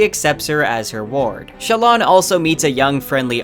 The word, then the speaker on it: Shallan: Side note, I always pronounced her name Shallan or Shallan, but according to Sanderson and the audiobook, her name is pronounced Shallan, so I'll stick with that.